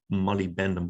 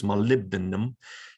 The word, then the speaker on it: molybdenum: if you add molybdenum it's hard to pronounce i used to call it molybdenum but it's not it's molybdenum if you add molybdenum to